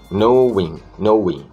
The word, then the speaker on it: knowing: Knowing. Você vê que o K é mudo.